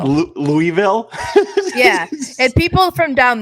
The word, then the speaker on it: Louisville: It's Louisville. I always said Louisville.